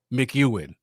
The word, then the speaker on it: McEwen: once every 4 years, McEwen. Okay. Thank you for that, Dominic. I've been pronouncing it wrong quite a bit. So it's Sean McEwen.